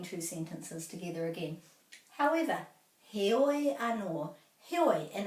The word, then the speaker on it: heoi: So he oi, oi rhymes with poi, he oi, and this is heoi, heoi. So it's not hoi, although hoi anō can also mean however, but when it's spelled with the E, it's heoi, and I prefer that one myself.